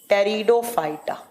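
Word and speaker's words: Pteridophyta: आपका आता है टेरिडोफाइटा जो लिखा किस जाता है पी से और प्रोनाउंस किस किया जाता है तो टी से टेरिडोफाइटा टेरिडोफाइटा टेरिडोफाइटा इसे कैसे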